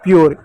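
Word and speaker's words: pure: जैसे पी यू आर ई, पी को आधा प, यू को यो लिख देंगे, आर का र लिख देंगे, हो जाएगा प्योर, ई साइलेंट रहेगा।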